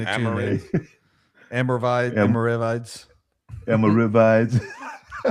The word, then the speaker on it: Almoravids: Almoravid Almoravids Almoravids Yeah, you know, so